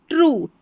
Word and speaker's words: true: But this is नॉट, NOT, not, always, always ट्रू, TRUE, ट्रू पढ़ना है। यहाँ पर TR को ट्र, UE का उच्चारण ऊ है, ट्रू, ठीक है, ट्रू का मतलब सही।